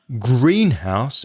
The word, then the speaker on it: greenhouse: together a dark room and you stress the first part yes but if you're talking about adjectives and nouns the stress changes to the second part so greenhouse becomes green house a house which is green white board in a